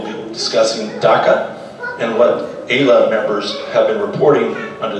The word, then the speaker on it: AILA: Am I pronouncing that right? AILA? Yeah. AILA.